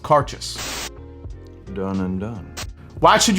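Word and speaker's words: Cairdeas: scotch whiskey even though when you see this word it looks like cardus it's actually pronounced cartus done and done why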